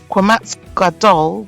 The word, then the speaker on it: qamats gadol: word and its position quamat gadal which is the regular quamat is pronounced as a long a vowel as in Father quat Katan is pronounced